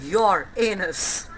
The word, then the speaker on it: Uranus: methane ammonia ice Etc Uranus is literally pronounced as your anus Neptune size 24622 km